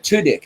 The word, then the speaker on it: Tudyk: Tudyk.